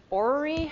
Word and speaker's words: orrery: This is an orrery. I looked up how to say this word, Jessica. What was it? Orrery. Someone can correct me. too many R's, not enough everything else.